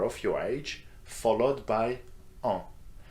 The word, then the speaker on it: ans: your age followed by en. And don't pronounce the S of this word, okay? Just en, that's the nasal sound.